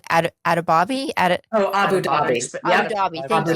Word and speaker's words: Abu Dhabi: Abu Dhabi.